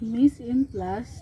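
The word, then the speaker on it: mise en place: store dessert so miss in class so it's pronounced at miss in plus translate to put in place it means to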